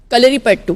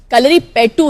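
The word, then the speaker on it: Kalaripayattu: कलरी पट्टू। पट्टू है, कलरी पाइतू है। कलरी पेट्टू है, लेकिन it's pronounce as कलरी पट्टू।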